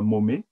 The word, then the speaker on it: Maumet: C'est, comme mon prénom, point Momet. C'est mon nom, ça s'écrit M-A-U-M-E-T, comme Thierry.